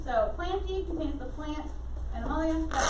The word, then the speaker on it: plantae: So, plantae, it's going off Latin pronunciation, so I know it looks kind of like plantae, but plantae is how you say it.